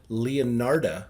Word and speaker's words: Leonarda: Leonarda, it's kind of like Leonardo DiCaprio.